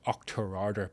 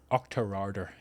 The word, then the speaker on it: Auchterarder: So, and we just luckily there's a little village called Auchterarder. Pronounce that. Auchterarder.